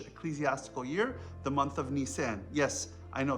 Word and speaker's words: Nisan: year, the month of Nisan. Yes, I know, that's how Egyptian uncles pronounce Nissan, as in the car, right? Nisan.